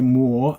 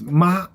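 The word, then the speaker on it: 抹: okay when you say more that's a verb that means wipe clean okay more now this character has two more pronunciation okay so next one is ma okay Ma when you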